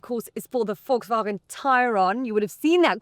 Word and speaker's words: Tayron: So remember, this is the Tayron, not the Tayron, even though it is spelt T-A-Y-R-O-N. Okay, it's like tie, like you tie a tie. You know, Tayron.